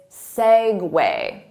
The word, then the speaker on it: segue: pronounce it well it's not se you it's segue segue so the syllable stress is on segue segue repeat it